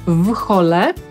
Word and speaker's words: whole: Zapytacie, co w takim razie ze słowem, które zapisujemy w hole i znaczy cały. całe. To już czytamy inaczej. Brytyjczyk powie whole i tak usłyszymy to tutaj.